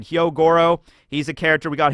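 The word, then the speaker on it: Hyogoro: setup but we got Yo Goro I always mispronounce his name I always say yo Goro and it's like that's wrong and it's like it's heo Goro all right fine Hyo Goro he's a character we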